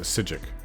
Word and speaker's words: Psijic: dark brotherhood psychic order there's a sigic i think it's psijic it's order that's how they say it on fudge muppet undaunted undaunted i don't